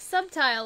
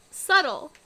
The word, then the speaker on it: subtle: she's gonna do one thing also do you pronounce subtle as some title subtitle subtitle what's sometime like subtile like it's like like subtle but like why